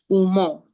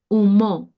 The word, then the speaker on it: Umoh: You tell tell us tell me what is your name and what does it umo umo. Yes, that's that's pronunciation.